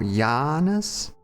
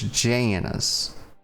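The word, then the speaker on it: Janus: Actually, I'm going I'm going to pronounce it the way you should, which is Janice. Count Janice because it starts with the A.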